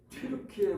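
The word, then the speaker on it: Türkiye: 튀르키예 공화국. 이게 튀르키예가 뭐지? 그래서 찾아봤습니다. 근데 수도가 앙카라가 나와요. 앙카라? 터키인데? 그래서 찾아보니까 영국식 발음, 미국식 발음은 터키고 원래 자기네 튀르키예 말로 하는 튀르키예랍니다.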